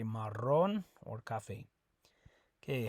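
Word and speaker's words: marrón: a double r that you roll that r okay so Maron Maron it's not maroon Maron okay uh also one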